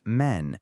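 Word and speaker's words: mesne: Our 18th word is men. Mes s ne as in men prophets. Men. The IPA is mean. The s is completely silent.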